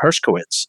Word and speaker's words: Hershkowitz: our guests I'll get right to it sorry Hershkowitz is that my pronouncing it right yes well yeah re